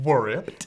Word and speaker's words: Wripped: W in there. True, we don't pronounce it that way, but yes. Wripped.